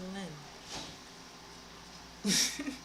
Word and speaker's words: length: when I'm at work, they say length and I'm like, it's a len th Oh, this guy, he just talking about like calesthetics.